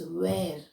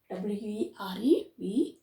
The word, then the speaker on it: were: For British English we use that only were only were here R is not pronounced were only were and for American English we say were is exactly we can hear the R were all right so you